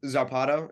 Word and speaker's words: zarpado: because like I said, I was a really nervous kid growing up, Yeah, and the Amazon by itself was a Zarpado.